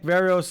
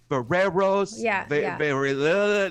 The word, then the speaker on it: Verreos: people you don't pronounce they look at the words and somehow they end up with varreros i mean yeah they